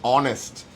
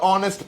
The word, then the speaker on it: honest: Now another word similar word is honest. So again, it starts with an H, but when you pronounce it, it sounds like it's going to start with an O.